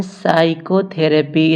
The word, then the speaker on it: psychotherapy: इसे हम पढ़ते हैं साइकोथेरेपी। इसमें पी को नहीं पढ़ा जाता है।